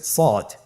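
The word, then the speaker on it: ص: শুরুতে আমরা শুরু করছি সদ। সদ হরফটি পুর হরফ। মোটা হরফ উচ্চারণ ক্ষেত্রে মোটা করে পড়তে হবে এবং উচ্চারণ করার সময় তিন আলিফ টেনে পড়তে হবে। আপনারা আমার সাথে বলুন সদ আবার বলুন সদ।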